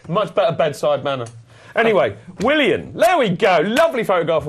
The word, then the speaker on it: Willian: his name pronounced properly I get fed up with hearing will I am it's Willian you're just not you're just